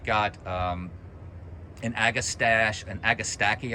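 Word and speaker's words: agastache: um and agastash and agastaki I think it's you say is how it's pronounced it's a it's a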